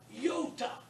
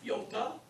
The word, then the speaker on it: iota: The short iota is pronounced, well, it's not pronounced like I in pit, but the long iota is still iota.